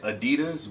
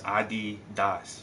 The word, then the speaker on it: Adidas: and I don't know I've always said Adidas but they say it's Adidas adid Das ad Das